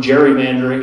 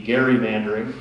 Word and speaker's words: gerrymandering: level the the term gerrymandering is something everybody here's familiar with that's actually a little pearl of wisdom for you that's a mispronunciation it should actually be gerrymandering it started in 1812 that